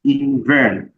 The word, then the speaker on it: Invearn: For those asking about Inven, so it is spelled INVEARN, Invern. So I think that is fine.